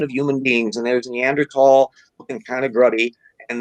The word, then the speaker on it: Neanderthal: by the th in neanderthal in german th is pronounced as a t so no however it's